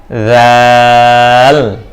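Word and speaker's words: ذ: দাল দাল দাল দাল জাল জাল জাল উচ্চারণ করার সময় জিহ্বার আগা দাঁতের আগার সঙ্গে লাগিয়ে পাতলা করে উচ্চারণ করবেন জাল জাল জাল জাল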